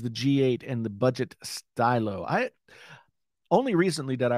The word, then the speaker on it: Stylo: g8 and the budget stylo i only recently that i realized that it was probably pronounced stylo uh in my brain i always pronounced it stilo but that doesn't make any sense um i saw a